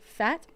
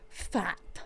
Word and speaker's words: Pfaadt: Also, they're seeing opposing pitcher Fat. Is that how you say his name? Brandon Pfaadt. Pfaadt.